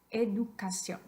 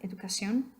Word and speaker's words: educación: Keep in mind that in most cases, when you have a written accent mark, you have extra voice stress on that syllable. So if you were to forget and put the accent over the I in this particular word, educación, how would that sound?